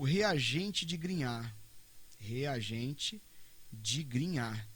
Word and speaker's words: Grignard: Reagente de Grignard. Estou falando Grignard aqui, que em francês é assim que se pronuncia.